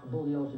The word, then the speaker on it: Bugliosi: Spence, my name is pronounced Bugliosi, the G is silent.